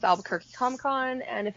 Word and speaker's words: Albuquerque: I can pronounce it better if I say the accent, okay? Just go with me. I love it. Is it you in there? Is it quirky? Albuquerque. Quirky. Albuquerque.